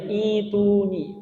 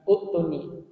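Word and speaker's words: ائْتُونِي: Sehingga dibacanya ituni, bukan utuni.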